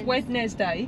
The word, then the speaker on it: Wednesday: No, but you don't pronounce the D, do you? It's Wednesday. Wednesday.